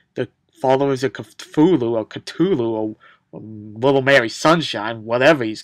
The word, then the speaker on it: Cthulhu: book becomes harmful when followers of Cthulhu or Cthulhu as he's pronounced and caught in the HP Lovecraft but here he's called Cthulhu why they called him khutulun not Cthulhu I don't know it's just what they